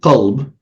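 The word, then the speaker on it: قلب: So, for example, the word qalb, which is heart, um, which is basically QLB, to simplify it. If I just pronounce it qalb instead of qalb altogether, it means he flipped.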